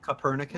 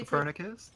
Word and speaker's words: Copernicus: Guys, how do you pronounce these names? Wait, where are Nicholas we? Copernicus.